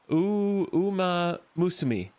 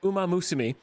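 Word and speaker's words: Uma Musume: I got it right. Uma. Umaam Musima. Uma Musumi. Uma Musumi. Okay. Uh, we're going to check out Uma Musumi.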